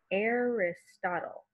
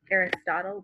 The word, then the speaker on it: Aristotle: So that first A is controlled by the R. The I is a short I sound. Arist, ot, short O. And then L-E suffix at the end says all.